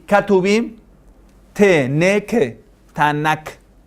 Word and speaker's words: Tanakh: Entonces va a ser Taura, Taura, Nabuim, Ne, y Ketubim, Te, Ne, Ke, Tanakh. Y que cuando ya está al final se pronuncia G. Entonces va a ser Tanaj.